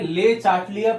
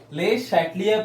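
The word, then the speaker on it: Le Chatelier: ये ले चाटलियर प्रिंसिपल नहीं है, ठीक है, ले शैटलियर प्रिंसिपल है।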